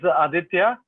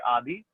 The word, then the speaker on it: Aditya: So you say it as Aditya, which means the king, the lord of the sun. It means the giver of life. And if you cannot pronounce it well enough, then it means you can say Adi, which is a short form, which most of my friends and family call.